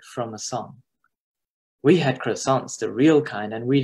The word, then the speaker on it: croissants: Junior had real croissants, the kind where you aren't supposed to pronounce the R, from a little bakery at the edge of Fondren district.